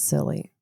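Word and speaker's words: Scilly: England and Cornwall it's silly. I I don't know. I looked it up and um the lady says silly like s i l e e sill.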